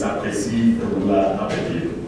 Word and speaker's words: Akwasi Ababio: I just, for the purposes of pronouncing it, the way it's pronounced in Ghana, I like to say that myself. And it's Akwasi Ababio.